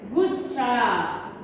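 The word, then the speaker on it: गुच्छा: Okay, the pronunciation of the word is ga, u matra, gu, not gu, u. Ga, u matra, gu, chako, chadakshar, cha, cha, a matra, cha.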